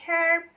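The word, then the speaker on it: herb: a court Hai selanjutnya beberapa kata dalam bahasa Inggris seperti herp ataupun Hospital itu lebih rumit Kenapa karena ada aksen yang menggunakan hak ada aksen yang hanya itu tidak bersuara Hai nah seperti beberapa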